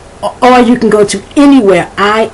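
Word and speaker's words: iniwhere: like i n i the pronunciation is any even though the correct spelling would be a in y um also if you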